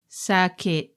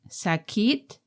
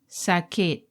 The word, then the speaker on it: sakit: with the first word sakit saket not sakit but pronounced as sakeet in English it could